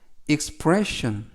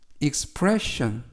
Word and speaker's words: expression: 의미가 되겠습니다 이번 표현은 expression expression expression이라고 발음하시면 되겠고요 단어가 약간 긴데요 강세를 알려드리면 가운데 있는이 가운데 있는 이에 강세가 있습니다 그래서 expression 보다는 expression